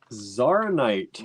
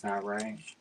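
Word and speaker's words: tsavorite: Zaronite. No. Savorite. Huh? Savorite. Garnet. Savorite garnet. I'm probably saying that wrong. I think it's Savorite. T silent.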